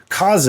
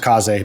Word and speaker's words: Kaze: you pronounce it, is Kaze and the Wild Masks. I've heard it pronounced Kaze, I've heard it pronounced Kaze, but I think it's Kaze from reputable sources, of which I don't have any.